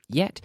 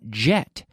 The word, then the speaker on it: yet: the pronunciation it's not jet not jet like the the fast-moving airplane no no no it's yet like yellow yes yet yellow this is the Y sound not to be confused with the J the J of jet